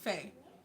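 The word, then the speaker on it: פ: On my Hebrew flash cards, I see the word pay. And this is what it says or fe. It's pronounced fay.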